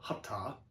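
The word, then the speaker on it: hatha: Okay, number one, that's not how it's pronounced. It's called hapta.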